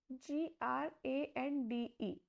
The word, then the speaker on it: grande: Pronunciation is born. Born. Meaning is good. The next word is GRANDE.